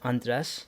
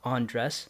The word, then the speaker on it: Andres: but you pronounce it andres like chris loves to say this crystal loves to introduce me as on dress like how you undress your clothes so that's one thing